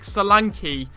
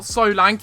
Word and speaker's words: Solanke: and also Dominic Salanki. It's not Solank, it's not Sanki, it's Salanki.